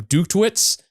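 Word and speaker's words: Dutkiewicz: with Kirk Winstein's Aftershock, with what had Adam Duktwitz, I think is how you pronounce it, but it's Adam D and his brother.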